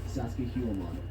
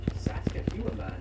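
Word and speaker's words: Sacsayhuamán: It sounds like sexy woman.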